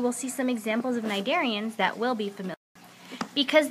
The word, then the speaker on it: cnidarians: The next group is your cnidarians. Your sea is silent.